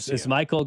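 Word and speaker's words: Maikel: Someone said, "Why why is Cody mispronouncing it?" He's not. Remember, he switched. He switched. It's it's Michael Garcia.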